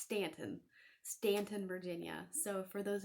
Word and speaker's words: Staunton: stanton mall in virginia i know people say staunton it's actually pronounced stanton stanton virginia so for